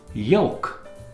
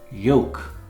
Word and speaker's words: yolk: Yolk. The L is silent. Yolk.